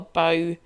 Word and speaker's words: bough: bottom of a tree we would call a bow that's what that word means when the bough